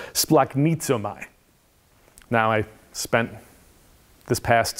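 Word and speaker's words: σπλαγχνίζομαι: that is most often translated as compassion is pronounced splaknitso mai now i spent this past spring taking greek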